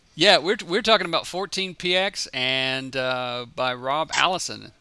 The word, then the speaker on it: 14px: PX or what's the well I've always said 14 PX but people have said 14 pixels I'm not